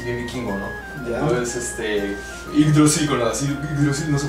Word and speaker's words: Yggdrasil: Entonces, Yggdrasil, con la Yggdrasil no se puede pronunciar ni siquiera. Entonces, sí, para escribirlo incluso, ¿no? Sí. Y-G-G, ¿no? Yggdrasil, no tiene nada que ver con Brasil.